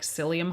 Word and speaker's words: psyllium: If you've ever taken a fiber supplement like psyllium husk, which is spelled with a P, by the way, it kind of turns into like a jelly.